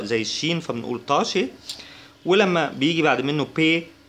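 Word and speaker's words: Tasche: والمقطع ده على بعضه اللي هو اس سي ها بيتنطق شين، فبنقول طاشي يعني حقيبة، ولما بيجي بعد منه بي بيتنطق شبا، يعني بيتنطق كأنه شين كده، فبنقول شبورت.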